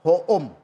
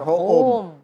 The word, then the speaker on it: Hoom: Jadi kenapa kita bikin dokter hoom? Karena ini kan kita mau sebenarnya tadi dokter home, dokter di rumah. Tapi kalau kita bikin dokter ho e eh e home yang bahasa Inggris, orang bacanya dokter home.